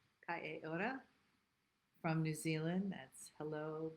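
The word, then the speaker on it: Kia ora: Keora. That's not how you say it. It's Kai Ora. Kai Ora from New Zealand.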